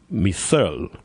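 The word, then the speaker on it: Mehserle: I think it's pronounced Misel.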